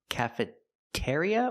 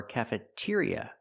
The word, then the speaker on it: cafeteria: Now I'm in the cafeteria section cafeteria or cafeteria? We use the second one. ear ear like beer and here and near cafetier cafeteria It's a stressed syllable.